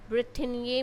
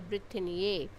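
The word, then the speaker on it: Brétigny: तो फिर से उन्होंने एक ट्रीटी साइन करी जो थी ब्रिटेनिये में, BRETIGNY. This is also an French word जिसकी प्रोनाउंसिएशन है ब्रिटेनिये.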